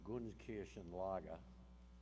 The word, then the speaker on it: Gunskirchen: It's the Gunskirchen Lager subcamp of Mauthausen, and I live in Nanuet. No one pronounces that town right either.